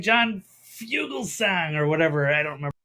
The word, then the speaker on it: Fugelsang: So I'm actually saying Fugelsang or whatever it was. If you're reading the lips. It's more song or sang. It's song.